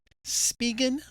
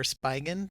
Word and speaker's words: Spigen: tear up everything but it's the spigen or spigen depending on how you want to pronounce it um iphone 12 max